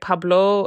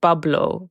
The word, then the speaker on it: Pablo: So actually in Arabic, Pablo is pronounced bablo, because we don't have a P in Arabic.